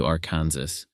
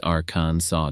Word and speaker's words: Arkansas: over the state line confidently declaring welcome to aranas only to be met by A Chorus of locals gently correcting it's aransa darling it's Arkansas's way of saying respect the